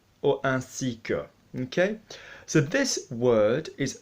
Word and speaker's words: ainsi que: 10 or semaine we're obviously going to be pronouncing that like an app so a C or a seeker okay so this word is so useful but